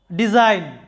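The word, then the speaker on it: design: শব্দটা লক্ষ্য করো ডিজাইন এখানে ডি একটি সিলেবল জাইন আরেকটি সিলেবল তো জাইন সিলেবলের মধ্যে আমাদের কি আছে যে এন তার আগে জি এন এর আগে জি থাকার কারণে জাইন সিলেবলটিতে জি এর উচ্চারণ হয় নাই তো এরকমভাবে মনে রাখবে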